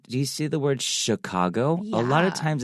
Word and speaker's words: Chicago: But sometimes there are some words, even though it's CH, it has a S kind of sound to it. 那在这边呢，芝加哥这个字，通常啊，我们在学英文，老师都会说 ch 很顺嘛，对不对？但是有一些字呢，就像 Chicago 这个字，芝加哥这个字，它是发不是发曲哦，要特别注意它的读音。